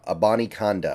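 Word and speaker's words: Abanikanda: Israel Bonnie candy akonda a Bonnie conda I believe is how you pronounce it I looked it up kind of difficult to find but I believe that is what you're looking for here Israel about akonda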